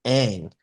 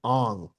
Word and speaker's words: Aang: Like the main character's name in Avatar is Aang, but in the movie, they pronounce it Ong.